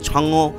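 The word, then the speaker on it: 嫦娥: Yeti main যে মহাকাশযানটি Chang'e 5 যার নাম, যদিও আমরা বাঙালিরা চ্যাংই 5 উচ্চারণ করছি বটে, তবে চায়নার উচ্চারণ অনুযায়ী ছাংও এরকম কিছু একটা, ছাংও 5 এরকম কিছু একটা।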